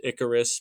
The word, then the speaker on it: Ikaars: Like there's one guy who can fly, whose name is Icarus, but it's spelled Ikaars.